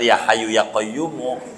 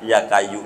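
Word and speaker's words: يا حي يا قيوم: qayu ya qayyumu ya padahal ya Hayyu ya qayyumu bacanya Salah ya kayu ya kayu ya kayu yaampek padahal Yayu ya qayumu dibaca ya kayu jadi juga begitu NY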